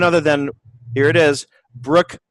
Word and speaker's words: Brooke: No, it's a silent E on Brooke, which everyone forgets when they send me emails.